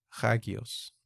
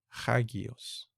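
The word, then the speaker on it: ἅγιος: Pero esta alfa tercera se pronuncia ja, ja, hagios, hagios.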